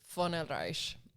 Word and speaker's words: Von Oelreich: Von Oelreich has a German ancestry to it. It's titled, and you pronounce it the V with an F, but it's VONOELREICH.